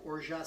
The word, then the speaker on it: orgeat: Then I'm going to use, again for a double batch, a half an ounce of orgeat syrup. I'm told that the T is silent.